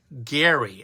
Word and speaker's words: Gerry: In 1812, Massachusetts Governor Elbridge Gerry, it's actually pronounced with a hard G, who was a founding father, approved a plan to bizarrely redraw districts to benefit his party.